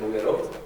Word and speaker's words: Nogueró: poner es Nogueró, mi apellido, pero con acento en la O, porque hay otros que también se llaman como yo, y sin el acento salen varios. Vale. Nogueró. Nogueró, tal como suena, Nogueró, pero con acento en la O, la última O.